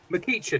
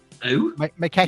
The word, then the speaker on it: McEachran: McEachin. Is that how you say his name? George McEachin? Who? McEachran.